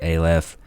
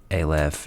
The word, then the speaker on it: Aleph: ways i apologize it's i think it's a lef um but it reads like a left to me so it